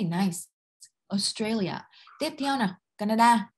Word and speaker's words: Canada: Tiếp theo nào, Canada. Mình đừng đọc cái này là Canada giống tiếng Việt nhá, mình sẽ đọc là Canada.